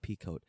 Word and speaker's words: Pico: Aaron Pico, their guy. Yeah. When MVP goes on, and now how do you say Pico? Pico. When Pico goes on, like Waco.